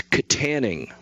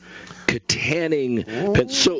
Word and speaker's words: Kittanning: by the way yes according to the pronunciation guide it's Kittanning Kittanning so look I looked